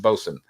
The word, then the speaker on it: boatswain: Boat. It's spelled boatswain. Yeah. Oh, gotcha. Yeah. Okay. Like the coxswain, but Like- a boat. Yeah, boats. Yeah, and then but it's pronounced bosun.